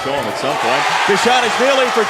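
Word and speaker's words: Bezhanishvili: Bishanishvili. Bishanishvili.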